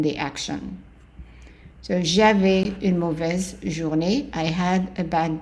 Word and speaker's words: mauvais: So here the AU is pronounced as an O. So in French, AU and EAU are all pronounced O. So mauvais, the AI again is an A, mauvais.